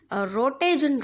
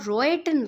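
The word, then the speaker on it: Röntgen: X-rays are also known as रोटेजन raise और रोएटन raise भी हम इनको बोल सकते हैं। जिस तरह से आप प्रोनाउंस करना चाहें आप कर सकते हैं।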